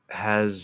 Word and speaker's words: has: Has sounds here like is. Okay, so number 1, I want to make this clear. Both has and is, they're spelled with an S, but it's a Z sound.